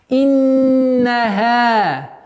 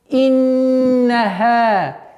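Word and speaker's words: إنها: И перед последний аят иннаха. Удерживаем назализацию в размере двух огласовок. Иннаха.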